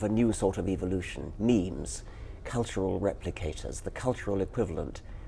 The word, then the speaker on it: meme: selection going um so I called it a meme so it doesn't exactly rhyme with Gene but it's sort of sort of short and and sounds vaguely similar and how did you